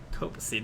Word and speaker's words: copacetic: Copacetic? It's copacetic. Is it? Yeah. Okay, well... Soft C. Copacetic, no, copacetic.